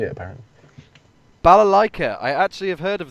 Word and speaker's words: balalaika: I don't know what a bakalalaika is, or even how to say it, apparently. Balalaika.